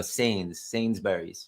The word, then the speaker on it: Sainsbury's: Oh, Sainsbury's.